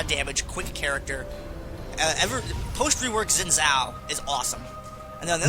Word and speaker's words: Xin Zhao: Xin Zhao rhymes with win now.